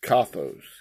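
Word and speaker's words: καθώς: from 25, 31, and it's kathos, kathos, pronounced this way. Let me turn that up. Jones G, 25, 31, kathos. Kathos. Sounds almost like I'm spitting out a big loogie.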